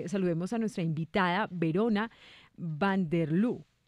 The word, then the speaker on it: Van de Leur: Bueno, María, sin más preámbulos, entonces, saludemos a nuestra invitada Verona Van de Leur. ¿Van de Leur? ¿Se pronuncia así?